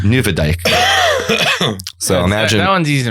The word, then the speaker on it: Nieuwedijk: There's actually the street I was looking for is spelled Nieuwedijk, but it's pronounced Nieuwedijk.